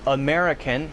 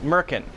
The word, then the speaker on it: American: Instead of saying American, he says Merkin, Merkin, Merkin. So it sounds a little bit different.